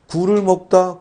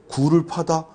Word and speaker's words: 굴: 제가 방금 말씀드린 것처럼 예를 들어 굴을 먹다 굴 어 이거 빨리 먹어 버려야 되잖아요 그러니까 뭐요 짧게 발음하고 반면에 굴을 파다 굴을 파다이 깊이 들어가야 되니까 이건 길게 발음한다 이런 식으로 이해하시면 됩니다